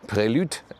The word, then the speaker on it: Prelude: This is the Honda Prelude, as it is in the correct French pronunciation.